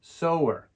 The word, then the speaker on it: sower: use a sewing machine notice the so sound for this word sower sewer next up is